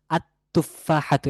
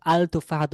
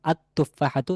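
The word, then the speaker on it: التفاحة: কিন্তু আলতুফাহাত হয় নাই কারণ লামটি এখানে উচ্চারণে আসবে না বরং লামটি তার পরবর্তী যে শব্দ আছে ওই শব্দের যে প্রথম যে অক্ষর আছে সেই অক্ষরের সাথে মিলে যাবে মিলে একসাথে উচ্চারিত হবে কিন্তু লামের আলাদা কোন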